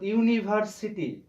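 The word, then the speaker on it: university: এখানে ইউ আছে, অর্থাৎ ইউনিভার্সিটি, যদিও এখানে ইউনিভার্সিটি আছে, কিন্তু আমরা যখন একটু লক্ষ্য করো যে এখানে ইউনিভার্সিটি আছে অর্থাৎ ইউ আছে, কিন্তু এই ইউটাকে উচ্চারণ করার সময় আমরা কিন্তু ওয়াই এর উচ্চারণ করছি।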